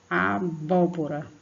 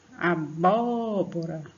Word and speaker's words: abóbora: a sílaba forte né abóbora abóbora tão bom Ó você no primeiro pó você vai ver que você puxa bastante aqui na garganta para falar o vó e o